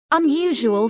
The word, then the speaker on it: unusual: Unusual finding. Although the beginning letter is the same as in the previous example, the word unusual pronunciation begins with a vowel sound, a.